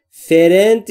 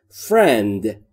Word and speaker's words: friend: دقت داشته باشید در مورد تلفظش، فرند نیست. بین F و R صدای کسره وجود نداره، یعنی حرف E وجود نداره. پس ما هم نمیگیم فرند. اوکی؟ فرند.